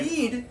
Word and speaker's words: Eid: One Eid. There's just one Eid. Oh, it's Eid singular. It's like share.